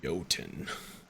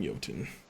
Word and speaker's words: Jotun: a little thing called Jotun. And that name might sound weird because it's spelled Jotun, but that's because it's like a Viking game where we say our J's weird in Viking times.